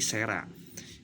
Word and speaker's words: cera: Kemudian huruf C dibaca menjadi S jika diikuti huruf E, I, dan Y. Contoh, tulisannya adalah cera, maka diucapkannya menjadi sera.